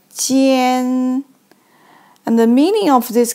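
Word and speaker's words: 奸: means clean or dry so this character is pronounced like Jian and the meaning of this character is very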